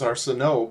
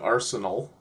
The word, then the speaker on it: Arsenault: The way they pronounce it, like, I would think it was Arsenault, but they pronounce it Arsenal, which is kind of odd.